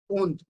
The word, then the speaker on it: und: Here again, point to be noted. D is sounds like T. So und. And it means and.